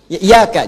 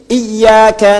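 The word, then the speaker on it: إياك: kasrah tadi yang iyaka iaka jadi kalau kita baca pakai tasdid iyaka nabudu WA iyak ada yang baca Enggak pakai tasdid kata Ibnu Katsir siapa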